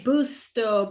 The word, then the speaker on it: Busto: Booto.